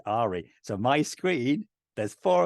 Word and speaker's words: Ahri: from League of Legends She is called Ari it's the same spelling without the S it is Ahri and she is Ari so my screen there's